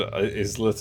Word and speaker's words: islet: What I hate is that you don't pronounce the S in Ireland or in Island and Islet and Isla.